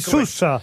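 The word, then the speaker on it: Soues: Ça s'écrit S-O-U-E-S, c'est bien ça? Sousse. Et on dit Sousse.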